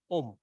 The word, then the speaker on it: Om: So it's so easy, Om, but in Chinese they always say Ong, right? So there's a difference. So it's not Ong, it's Om, right?